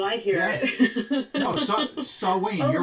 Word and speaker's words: Samhain: No, Samhain, you're right.